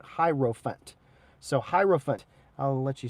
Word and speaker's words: Hierophant: So like elephant, but Hierophant.